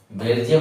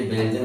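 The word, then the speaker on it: Belgian: Model बहुत सारे बच्चे इसको क्या कि बेल्जियम मॉडल बोलते हैं इसको। बेल्जियम मॉडल नहीं है ये बेलजन मॉडल है।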